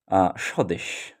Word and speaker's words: স্বদেশ: যেমন স্বদেশ স্বদেশ শব্দটিতে আমরা দেখতে পাচ্ছি যে শব্দের শুরুতে শুরুর বর্ণ দন্তস এবং এর সঙ্গে বফলা যুক্ত অবস্থায় রয়েছে এবং উচ্চারণে আমরা এই বফলার কিন্তু কোন উচ্চারণ হয়নি কারণ এই